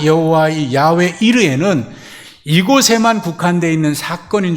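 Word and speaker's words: יהוה יִרְאֶה: 이거는 히브리어를 발음 그대로 기록한 겁니다. 제가 발음이 히브리 사람들처럼 정확지는 않습니다만는 그래도 최대한 가깝게 얘기하면 이것은 야외 이르입니다. 야외 이르해.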